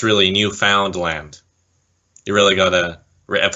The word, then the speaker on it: Newfoundland: was a bit of controversy because John Montgomery pronounced it the same way as a lot of us do say Newfoundland when it's really Newfoundland you really got a rep Assizes the ending